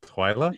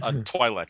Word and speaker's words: Twi'lek: Twyla? Twi'lek. Twi'lek. Twi'lek. Twi'lek. Oh. You changed it up. Yeah, even I can mispronounce it.